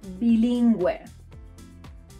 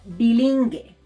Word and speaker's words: bilingüe: As a result, we get a smiley U, like in the words pingüino, or bilingüe, bilingüe, bilingual. If we skip the spell, these words will sound pinguino or bilingue, and we don't want that.